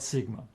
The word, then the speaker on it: sigma: Yeah, if you pronounce it the not like a G, sigma, because it's a gamma there then in the name of the letter. Yeah, but yeah, it's an s sound.